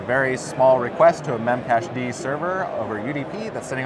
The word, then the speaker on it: memcached: to an application called memcache D sometimes mispronounces memcached which is correct and that was kind